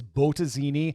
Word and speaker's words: Bottesini: weeks by the way i'm pretty sure the correct pronunciation is botazini but i'm a midwestern